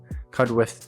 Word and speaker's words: Cudworth: Cudworth Cudworth to me being from down south at Cudworth to the natives here, as I've been told many times to make sure I say it correctly.